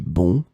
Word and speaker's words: bonds: the plural form because we don't pronounce the final S. It will be exactly the same pronunciation, bon. De petits bonds.